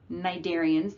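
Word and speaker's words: cnidarian: so those include sponges narian the C is silent flat worms segmented worms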